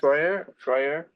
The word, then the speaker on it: Feuer: So we're lucky to have Feuer, Feuer rhymes with lawyer. Yes. Feuer, here today to give us his perspective Yes.